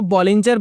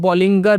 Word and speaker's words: Bollinger: काफी लोग इसको बॉलिंजर बैंड बोलते हैं, लेकिन जो राइट प्रोनाउंसिएशन है इसकी वो है बॉलिंगर बैंड्स।